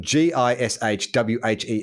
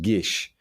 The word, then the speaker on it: GISHWHES: a it's a an abbreviation of the of g-i-s-h-w-h-e-s which is the greatest international scavenger hunt in the world has ever seen pronounced gishwhes now shortened to just gish is an annual week-long competitive media scavenger hunt